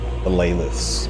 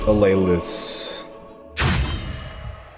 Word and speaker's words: Elaleth: Elaleth's is actually how you pronounce her name. Elaleth's.